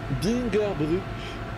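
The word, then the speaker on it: Bingerbrück: L'U avec le tréma se prononce comme notre U. Ah ok, oui, je me disais bien qu'il y avait un bail comme ça. Bingerbruck, donc.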